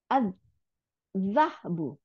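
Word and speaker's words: الذهب: আজ জাহাবু, স্বর্ণ, জাহাবু, আজ জাহাবু, আজ জাহাবু। তাহলে লামটা গিয়ে যার সাথে মিলে যা দুইটা বানাই দিছে, তাই না? এই জন্য যার উপরে সাদ্দা দিয়েছে, আজ জাহাবু।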